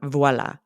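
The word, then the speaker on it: voilà: standard accepted pronunciation and how it is said in French is with the V sound voila so let's do a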